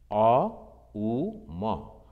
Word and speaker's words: Om: A, U, Ma. Mostly we pronounce Om. No, it is not O, it is A. A, U, Ma. Om, like this. So A, then O, then Ma.